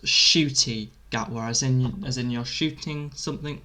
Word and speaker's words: Ncuti Gatwa: His name is pronounced Shooty Gatwa, as in you're shooting something with an eye, Shooty.